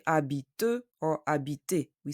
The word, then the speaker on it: habite: Elle habite à Paris. The H of habite is silent. We say habite, not habit.